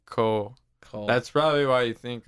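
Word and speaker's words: Khoo: name is k-h-o-o bars so that the h is silent cole that's probably why you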